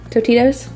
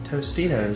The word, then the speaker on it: Tostitos: And then the, I always say this wrong, Totitos? Tostitos. Tostitos? There's an S there.